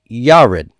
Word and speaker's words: Yared: means + line now where's the accent here it's on the first syllable it's Yared now if the accent